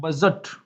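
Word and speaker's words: budget: ये होता है बजट। डी और जी इकट्ठा आ गया तो ज का साउंड आएगा यहाँ, बजट।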